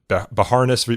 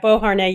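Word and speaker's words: Beauharnais: in this but uh Bahares vers Illinois dealing with group defamation. Right. Boharn. Yes. Yeah. Board. There we go. French word.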